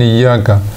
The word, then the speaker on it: إياك: ثم كذلك يمكن يسقط الهمزة من إياك، مالك يوم الدين إياك، مالك يوم الدين إياك هكذا لو قرئ تسقط الهمزة من إياك، فهذه الهمزة همزة قطع يجب النطق بها وصلا ووقفا.